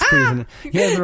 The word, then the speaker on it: Cuisinart: It's Cuisinart.